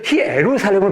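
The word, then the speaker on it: Ἰερουσαλήμ: 그래서 히에루살렘을 발음하는데 북쪽은 방언, 사투리를 쓰는 거예요.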